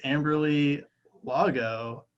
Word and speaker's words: Amberley Lago: And her name is Amberley Lago. I'm guessing that's how you pronounce the last name.